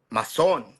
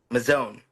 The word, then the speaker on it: Mazon: in SoCal that will say it's mason, mason, There you and go. then I say mazone. So Mazone? yeah, That's how you say it, Mazone? yeah, Okay. So when we say Maison, we're all wrong, right?